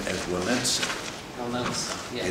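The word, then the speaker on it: Wałęsa: Walensa, yes. It is, without an N, but it comes out Walensa.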